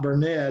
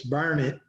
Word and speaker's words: Burnet: time i went to burnett which is not burnett it's burn it i was corrected by the locals in a